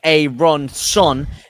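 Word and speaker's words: Aaronson: it's a great Point you're pronouncing his name wrong it's a a Ron son is is the man's name and I agree with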